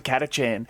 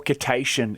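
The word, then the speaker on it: Kacchan: it somehow got to kachchan or kitatian if you want to say it wrong um and doesn't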